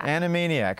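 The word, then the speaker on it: annimaniac: can find anne on twitter uh is this annie maniac is that how you pronounce that animania animaniac all right so a cartoon show a-n-n-i-m-a-n-i-a-c so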